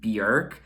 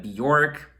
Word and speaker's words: Björk: I think the proper pronunciation of her name is Björk. I know a lot of you say her name Bjork.